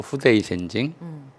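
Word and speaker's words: 不逞鮮人: 독립운동가 또는 독립운동에 심정적으로 동조하는 사람들, 이들을 묶어서 이제 일본 발음으로 후데이 센징, 불령선인이라고 그랬어요.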